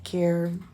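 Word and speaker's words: Kerr: website carewellness to catch care is k e r r but you say care like you care get because my name is Scottish and that's how you say it care not C okay thank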